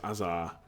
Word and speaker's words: Hazard: Hazard equals Azar.